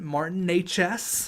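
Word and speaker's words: Martin Nečas: Martin Natchez. That's right. That's how you pronounce his name for everyone wondering.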